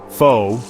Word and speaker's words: pho: Pho, pronounced pho, not pho you donkey, is Vietnam's comfort, identity, and pride all rolled into one steaming bowl.